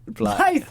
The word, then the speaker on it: Blyth: Now that wonderful accent you're from, is it a little place called Blythe? Yeah, is that how you say it? It's Blythe, and so yeah, it's pronounced how you want. Blythe.